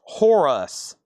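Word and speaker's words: Horace: moday Irene crawl second chance sealed Horus silver pronounced Horus rhymes with chorus John Lewis evolution and the yellow jackets greenhouse house.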